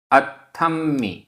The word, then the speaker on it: अथम: गाथा क्रमांक 19 उच्चारण अथम आधा त थ आधा म पूरा म अथम अथम हदे हदे